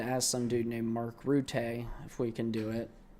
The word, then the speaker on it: Rutte: There was a meeting with NATO today with Mark Rutte. I've learned that's how you pronounce his name. You don't combine the Ts, you pronounce each of them individually.